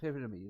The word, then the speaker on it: epitome: how do you say that word again epitome epitomy there we go I was going to say